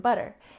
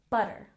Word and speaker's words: butter: it's bread bread and here we tend to soften the T as native speakers butter butter One More Time Butter